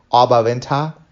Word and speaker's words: Oberwinter: And then I had to, like, say it the way the Germans say it, Oberwinter.